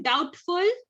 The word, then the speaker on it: doubtful: Okay, so have you written doubtful? There also B is silent.